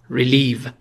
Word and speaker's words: ریلیو: برای لغت امروز اوکی ریلیو تلفظشو دقت کنید یه صدای ای کوتاه یه صدای ای کشیده استرس روی حجای دوم ریلیو یعنی ورب فعل یعنی